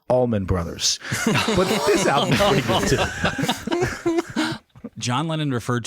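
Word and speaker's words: Allman Brothers: of all time and their name is pronounced Almond Brothers but this John lennin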